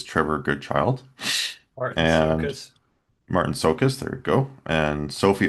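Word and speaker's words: Marton Csokas: I can't pronounce the guy's name who plays Trevor Goodchild. Martin And Sokus. Martin Sokus, there we go.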